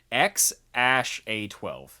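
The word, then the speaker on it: X Æ A-12: yeah yeah that a e is pronounced ash don't ask me how x ash a12 the x is just x the x is just x and the a12 is just a 12.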